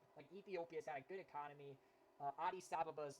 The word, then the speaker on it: Addis Ababa: sabha and that's yes that's how it's pronounced it's actually a pretty cool name when i was a kid i pronounced it i pronounced it addis ababa or addis ababa i think that's how i pronounce it but no it's adi sababa yeah we're coming in